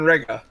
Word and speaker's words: Riga: He was saying Riga.